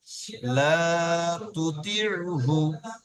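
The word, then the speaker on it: لَا تُطِعْهُ: লা তুতি হ্যাঁ, লাটা একটু টান দেন, লাটা একটু টান দেন। লা তুতি লাতি মাশাআল্লাহ, ঠিক আছে, মাশাআল্লাহ। তাহলে লা তুতিউহু।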